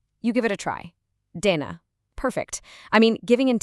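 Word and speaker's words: देना: This one is pronounced Dana. Now listen closely to that soft D sound. It's not a hard punchy English D.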